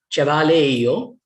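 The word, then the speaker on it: ĉevalejo: Place of, cavaleio. J is pronounced like a Y, as in German and Germanic languages, many.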